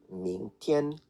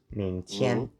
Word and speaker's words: 明天: 明天. Do remember the G is not pronounced and it's only used to fully nasalize the N.